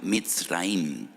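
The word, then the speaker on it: מצרים: Y recuerdan la aflicción, la amargura de la esclavitud, porque la palabra Egipto en hebreo se pronuncia mitraim.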